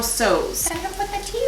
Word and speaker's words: Tso: so purse boone university they said that you're not supposed to pronounce the t so it's supposed to be general sews i'm gonna put the